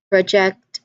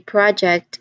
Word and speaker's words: project: So notice how project as a verb has the stress on the second syllable, while project as a noun has the stress on the first syllable.